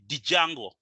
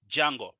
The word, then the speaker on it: Django: you may call it dijango hey that's kind of weird the D is silent it's called Django so pip install Django